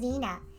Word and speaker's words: Ina: Or when you pronounced Ina as Ina, when reality is pronounced as Nina.